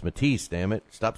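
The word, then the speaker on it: Matthysse: right i always say mathesy but my man john uh from ldl said uh no it's matisse damn it stop saying it math to see it looks like mathesy but it's pronounced matisse even though it's m-a-t-t-h-y-s-s-e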